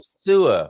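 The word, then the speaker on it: Soure: It sounded like you said sewer, which doesn't sound entirely attractive. It's pretty much spelled the same way, but it's SOUR.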